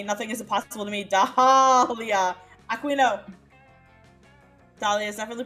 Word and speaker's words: Dahlia: My name has a silent H in it? Yeah, Dahlia. It's after the A and before the Leah.